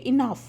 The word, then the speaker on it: enough: ইনাফ শব্দটা, এই যে ENOUGH, এটার উচ্চারণ হচ্ছে ইনাফ।